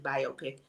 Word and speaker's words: biopic: And yes, that's how you pronounce it, biopic.